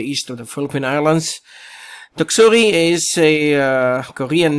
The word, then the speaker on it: Doksuri: our latest update on tropical storm tuksuri and that's the pronunciation of the new storm that has formed the east of the Philippine Islands taksuri is a Korean name